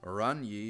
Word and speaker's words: Oranje: Oranje is pronounced as Oranje. Klasje is pronounced Klasje. Yes, we get it. The J's are kind of Dutch.